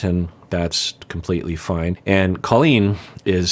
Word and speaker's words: Colleen: He keeps calling her Colleen, which it's not Colleen, it's Colleen.